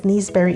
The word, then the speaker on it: naseberry: Naseberry, pronounced as neeseberry in Jamaica, also known as sapodilla, is a tropical fruit native to the Caribbean and Central America.